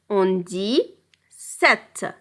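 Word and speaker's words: sept: ce 6 7 7 ici on a 7 mais on ne prononce pas le P en ne dis pas Sapt on dit 7 8 ici pour 8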